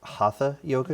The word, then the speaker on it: Hatha: And you practice a form of yoga known as Hatha Yoga, am I pronouncing that right?